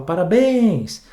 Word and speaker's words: parabéns: gritar para ele parabéns você não fala para parens você fala não você fala parabéns Pois é então bens foi a última sílaba certo separa de sílaba Parabéns bens foi a última bens é a mais forte bens é a tônica legal e eu já